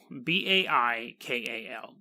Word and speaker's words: Baikal: is and get prepared for a ton of mispronunciations because we're going to Russia this is Lake Baikal Bai kaal Lake Baikal is on the conspiracy list it's